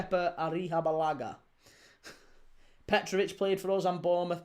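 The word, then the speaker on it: Arrizabalaga: Keer Arisabalaga is pronounced Kea Arihabalaga.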